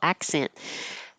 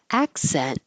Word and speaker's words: accent: Accent, accent, accent. You won't hear the K or the T. Your tongue just goes to that position, accent, and holds it.